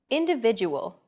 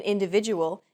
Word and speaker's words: individual: Individual. The stressed syllable vi in individual is deemed more important, so it's pronounced longer than all other syllables.